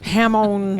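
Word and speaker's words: jamón: Hamon. Hamon. That's how you say it in Spanish.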